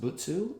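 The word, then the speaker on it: 仏: That first character, top right, is the character for Buddha, pronounced Butsu in Chinese.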